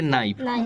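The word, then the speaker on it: knife: क्या पढ़ते हैं आवर नाइफ नाइफ में क्या है के साइलेंट है इसे क्या पढ़ते नाइफ क्या पढ़ते हैं नाइफ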